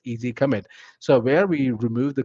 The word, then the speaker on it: EZ commit: So our release management product comes out of the box with something called as EZ commit, or pronounced as easy commit.